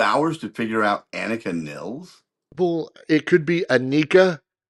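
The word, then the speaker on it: Annika Nilles: I believe it is Annika Nils. 2 L's, which means it's Nils, and then not a long I.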